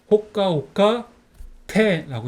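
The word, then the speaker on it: ほっかほっか亭: 곳 그 정고 있잖아요 거기가 정자 합니다 그래서 호과 호가 테라고 있습니다 그럼 한번 읽어 볼까요 이거는 호가 오가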